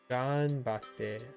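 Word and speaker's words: がんばって: Ganbatte. Oh, that's how you pronounce.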